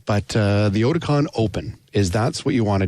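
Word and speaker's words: Oticon OPN: Again, It's spelled OPN. We dropped the E so we could trademark it. But the Oticon Open that's what you want to do.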